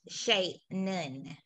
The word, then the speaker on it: Shannon: to introduce everyone to shannon it's pronounced shay nun she's going to be